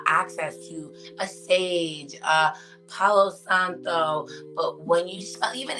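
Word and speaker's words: Palo Santo: it right so for anyone watching this is Pao Santo but Lauren Santo it's the Gringo way it's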